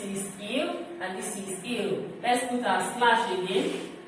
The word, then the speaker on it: ils: This is il and this is il. Let's put our slash again. Here we have L, but with S. This is L, this is L. It's pronounced the same way because this S here is silent.